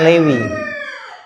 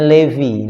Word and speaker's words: Levi: merek celana Levis ya Levi itu nama nabi itu dibacanya Lewi levisow jadi Levis ya jadi orang beli celana celana levis itu celananya nabi Levi Li ya nah baca Lewi ya Lewi Lewi bin yaakub